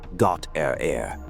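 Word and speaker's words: Gottehrer: Feldman, Gautter, pronounced Got Air, and Goldstein.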